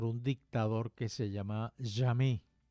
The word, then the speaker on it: Jammeh: Ese es un paisito que estuvo gobernado durante aproximadamente 22 años por un dictador que se llama Jammeh, muy parecido a la palabra francesa jamais, que significa jamás.